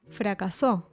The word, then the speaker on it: fracasó: If it didn't have it, it would be pronounced fracaso and would refer to something with a bad result, a failure basically. But fracasó, with its ending accent, is the past second